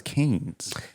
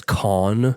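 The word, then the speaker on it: Cannes: tend to be um there that's how it's pronounced I thought it was can's nope it's people used to call it the can's film festival or the can film festival then it's con that the can or con it changes anytime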